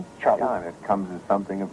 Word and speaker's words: Charlton: And uh number one I was surprised that I pronounced his your name like Charlton. Charlton it comes as something of a surprise.